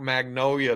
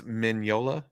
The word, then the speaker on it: Mignola: Wait, the artist's name is Mignola? Is that how you say it? Mm-hmm. Okay. Thank you, Fuzzy, for spelling it out for me. Because I was still trying to put the G in there.